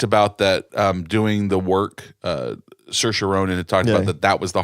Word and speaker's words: Saoirse: she had talked about that doing the work Saoirse Ronan that that was the hardest part of